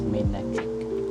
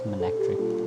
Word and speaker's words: Manectric: I think it's Manectric. Yep. I pronounce it as Manectric ever since.